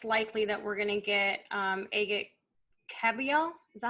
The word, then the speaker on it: Agit Kabayel: Right now, it looks likely that we're gonna get Agit Kabayel.